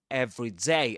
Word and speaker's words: everyday: We we al we also said that another difference between every day as s as two words as a phrase of two words and every day as one word as an adjective is pronunciation. Because um every day in every day the stress goes on day.